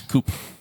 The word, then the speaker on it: coup: It's No, a different silent letter. It's coup.